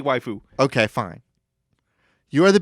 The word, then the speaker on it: waifu: You are the big titty goth waifu trapped in a dating sim. No, you got to say it right. Wifu.